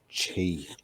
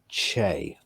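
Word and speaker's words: Chee: day, according to that, it's not pronounced Chi. What is it pronounced? Che. Che.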